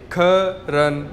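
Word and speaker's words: 客人: Next word हमारे पास है ख, के ई, ख, आर ई एन, रन, ख रन। कैसे प्रोनाउंस करेंगे इसे, ख रन, ख रन, और इसका मतलब होता है गेस्ट्स, मेहमान, ठीक है।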